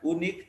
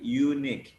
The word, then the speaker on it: unique: Dibaca Y ya, sama dengan unique, bukan unik tapi unique.